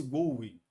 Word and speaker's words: GUI: A gente pronuncia esse GUI.